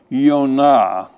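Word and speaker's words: יונה: is yo-kai nan and the name Jonah would be pronounced yo na very clear very close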